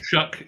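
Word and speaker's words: Shough: Rush Lanes with with Tyler Shaw or sh was it shock shook shook yeah like to shut corn doesn't look like it would be pronounced that way but it is yeah I was thinking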